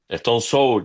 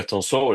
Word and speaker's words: Stone Sour: Entonces, tú dices, "No, qué sé yo, Stone Soul." Y no es stone S, es stone so y qué sé yo.